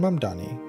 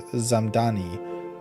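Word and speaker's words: Mamdani: From Fox News, Zoran Mamani fires back at White House mispronouncing his name. M A M Dan Ni. Zoran Mdani, New York City mayoral candidate. clapped back after the White House mispronounced his name as Zamani in a viral Tik Tok set to hollowback girl.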